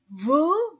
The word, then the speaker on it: vos: Pluriel de notre, nos, votre, vos, leur avec S. Et je ne prononce pas la lettre S. Nos, vos, leur, maison, pluriel.